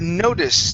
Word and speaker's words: notice: up is the word notice now the e at the end of this word is silent so we don't say